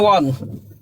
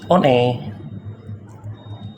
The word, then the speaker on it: one: Eh, bahasa Inggris kita kalau di di Inggris bacanya Won kan gitu. Won. I on. Heeh. Di Indonesia bacanya gimana? One.